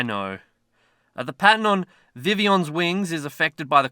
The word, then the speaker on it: Vivillon: what's this cash Pavilion sorry it's Vivion I read the blog post that actually gave us pronunciation pretty cool cheers Niantic